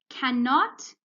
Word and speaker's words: cannot: that now we have cannot can't hear the n is silent the first end not the second okay cannot when we pronounce it we can only hear one sound of n okay like it's only